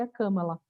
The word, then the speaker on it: Kamala: grossa nem nada ela falou meu nome se pronuncie a cama lá eu falei tá e